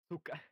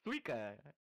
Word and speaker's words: Suika: Suka. Suika. That's how you say it.